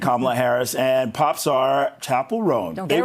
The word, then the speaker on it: Chappell Roan: first name, pronounced Kamala, and the name of the Good Luck Babe singer is pronounced Chapel Road.